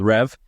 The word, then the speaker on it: Revv: currency of motorers is something called rev you know like revving an engine if that makes sense but then it's spelled with like a double v at the end so it's like revv but yeah besides that point